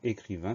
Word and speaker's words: écrivain: Première syllabe, premier son, c'est le son E qu'on va écrire E accent aigu. Deuxième syllabe, cri, C-R-I. Troisième syllabe, vin, V-A-I-N. Donc le son 1 de écrivain s'écrit A-I-N. C'est la seule chose à laquelle on doit prêter attention.